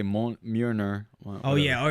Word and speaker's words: Mjolnir: thor's hammer mjolnir scene that was really good pronunciation i say mon myrna oh yeah all right all right all right